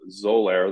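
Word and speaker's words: Xolair: know there's a medication called zoler that's spelled with an X that's the trade name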